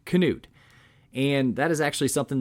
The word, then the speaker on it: Knute: to broach this topic his name was in fact knut rockne with a hard k knude and that is actually